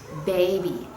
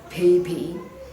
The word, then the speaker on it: baby: d j and g for example jungle instead of jungle say jungle or baby not pee pee okay problems number four